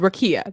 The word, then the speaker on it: rakia: virginia oh okay oh so it's called rakia that's how we say it like ikea but okay yeah that's right